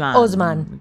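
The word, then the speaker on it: Haussmann: el el varón hausman osman la verdad no sé dependiendo lo pronuncien los franceses husman pero lo que pasa es que los franceses dicen osman osman claro eh Y entonces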